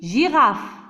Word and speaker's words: girafe: G devant I, c'est J, girafe.